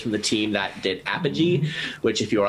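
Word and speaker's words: Apigee: So search Apogee, not Apogee. Oh, okay. So IGE, yeah. I would not have pronounced it that way.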